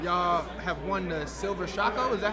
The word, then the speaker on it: Shako: Y'all have won the Silver Shako, is that how you say it? Shako, Silver Shako.